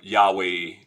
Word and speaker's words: Yahweh: j that's the problem there's no j in uh in hebrew no json that was that that comes because of translations uh early on um most people pronounce it um uh yahweh some like other pronunciation but that's probably what it is um anyway they